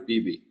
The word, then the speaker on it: BB: Is it Babe? Am I pronouncing that right? It's BB.